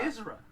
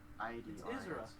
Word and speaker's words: Idris: Isra. That's how you say it? It's Isra Elba. But the way you spell it is so weird. I-D... It's not American. I-R-I-S. Wait, that's I-D-R-I-S.